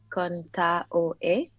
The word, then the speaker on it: Contaoe: Yeah, it's Contaoe. It's like the AOE. So I'm Filipino, and the like roots of the Philippines is Spanish, part Spanish. So the pronunciations is that you say every vowel as they sound. So if you were to say Contaoe, Contaoe. yeah, Contaoe. and then yeah, you make it flow.